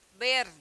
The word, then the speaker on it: ver: Agudo tá em espanhol o verbo ver escreve da mesma forma porém pronuncia-se ber ber tá então diobo tu